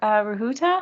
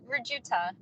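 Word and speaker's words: Rujuta: Rahuta, is that how you pronounce that? R-U-J-U-T-A? Yeah, Rajuta.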